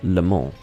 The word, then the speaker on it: Le Mans: It's Le Mans, which is pronounced Le Mans.